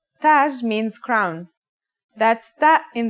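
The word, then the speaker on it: تاج: learn a word using some of these letters taj repeat after me taj taj means crown that's that in the initial form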